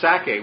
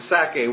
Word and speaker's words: Sacae: region, of course the Sacae was, again, I just picture the word Isaac, and Sacae is S-A-C-A-E. It has the syllable of sac, Isaac or Itzhak right in it.